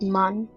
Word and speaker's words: Mun: uh mun or the moon it's called the pronounced mun that's an m u then around carban which